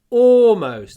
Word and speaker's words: almost: Almost. А вот интересно, я не произношу звук Л в этом слове.